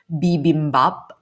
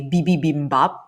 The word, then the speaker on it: bibimbap: know the Korean dish bibimbap. My husband was not able to pronounce it properly, and he would always say bibibimbap instead of bibimbap. He would add an additional B.